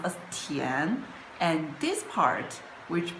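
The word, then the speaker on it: 田: now let's look at it, Li, this character is combined with this part, which pronounced as Tian, and this part, which pronounced as Tu.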